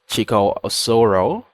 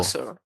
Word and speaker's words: Chikaosoro: I've got Chico Osoro. Did I get the pronunciation right? Yeah, you tried. It's Oh, Chikosoro. Chico Soro.